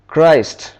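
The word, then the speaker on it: Christ: पर है चाइल्ड यहां पे चेक की आवाज़ क्राइस्ट यहां पर काफी आवाज़ च आर आई एस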